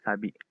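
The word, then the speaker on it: 錆: Kanjinya seperti ini, sabi. Ada kanji kane sama kanji aoi. Menjadi karat, sabi dibacanya. Seperti itu ya.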